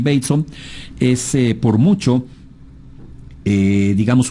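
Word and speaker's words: Bateson: descubrimientos que es eh gregory Baton gregory bon se escribe pero es gregory bon es por mucho eh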